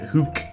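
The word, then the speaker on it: Hoek: I believe he's Dutch so it has that hook pronunciation the OE is like Ronald you know that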